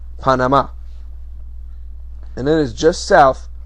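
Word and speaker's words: Panamá: now i'm not saying panama that's the american pronunciation in spanish it's pronounced panama and it is just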